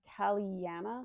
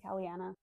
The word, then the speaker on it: Kaliana: Then I picked up The Time Ministry by Kaliana. That's how you say her name, Kaliana.